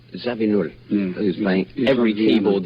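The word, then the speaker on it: Zawinul: And I can never pronounce Joe's surname. Zabin. Zabin.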